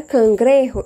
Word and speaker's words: cangrejo: é o caranguejo né lembrando o que o gênio J no espanhol ele não vai ter o mesmo som que da língua portuguesa ambos vai ter bons Dr por isso que ele se pronuncia cangrejo e não some grejo tá ele fala mar